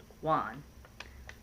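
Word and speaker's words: won: wand w/o n ah it's how it's spelled but it's pronounced Juan and I have peace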